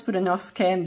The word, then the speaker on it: Fudenosuke: It is written Tombow Fudenosuke, but I was told it's Fudenosuke.